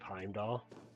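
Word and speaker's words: Heimdall: Like uh they wanted you to pronounce the R at the end of Heimdoll. Yeah. Which is not correct.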